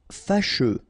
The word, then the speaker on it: fâcheux: Fâcheux. So final X not pronounced, and then you get your combination of U, E.